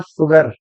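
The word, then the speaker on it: sugar: तो उसने बोला द ओनली वर्ड इन अंग्रेजी where S यू is pronounced you और बता दिया उसने मुझे अकेला शब्द है जहां पर एस यू जो है वो श की ध्वनि देता है प्रश्न पूछा मैंने आर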